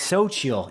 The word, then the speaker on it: Xochitl: I prepared beforehand to pronounce her name, and I think it's Xochitl. Xochitl Gomez. Xochitl, yes.